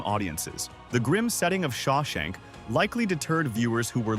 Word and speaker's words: Shawshank: Robbins himself admitted that audiences had trouble remembering or even pronouncing the Sha Shank Redemption people referred to it as Shimmy Shimmy Shake shankshaw or scrimshaw reduction while the title has